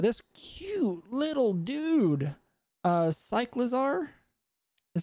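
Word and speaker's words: Cyclizar: the screen but this cute little dude uh cyclazar is how you say his name the bite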